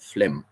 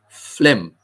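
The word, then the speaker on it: phlegm: an F sound correct many pH words are pronounced with the F sound so understandable but Flem I can spell it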